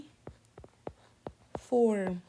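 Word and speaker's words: uniform: مع الصوت تمام طيب كلمه زي كلمه يوني يوني يوني فورم بدات هنا بايه بيو واليو ده من الفاولز طب تعال نشوف نطقها هنا يو يونيفورم ي ي ي الصوت اشبه بصوت اللير واي تمام كده يبقى الصوت هنا كونسنت ف اي يونيفورم ما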